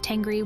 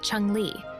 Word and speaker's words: Tengri: With them, Tengrism also expanded, because the very first mention of Tengri was handed down from a Chinese source, where the Xiongnu emperors are called Chengli. This is a Chinese mispronunciation of Tengri.